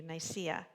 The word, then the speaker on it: Nicaea: Thank you, Nicaea.